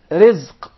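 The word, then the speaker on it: رزق: Rizq. Rizq. Rizq. Rizq. Did you notice here the ra is very soft and light? Yeah, because it has a kasra. So say ri. Ri. Versus rahim. Yes. Rizq.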